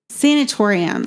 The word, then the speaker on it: sanatorium: Sanatorium. Oh, okay. Here we go with the pronunciations again.